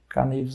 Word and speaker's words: Knives: O Danilo falou sobre Knives Out aí, né? Knives Out. Facas. Knives, é porque o cara não se pronuncia.